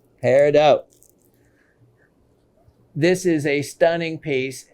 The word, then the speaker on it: peridot: please don't ever say peridot that is absolutely incorrect and would show and tell uh anybody you're speaking to that you're a rookie the correct pronunciation is a silent t peridot peridot this is a stunning